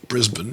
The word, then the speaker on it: Brisbane: which is way above brisbane as they pronounce it not brisbane brisbane spain brisbane they just they sort of cut short their last syllables so i'm back welcome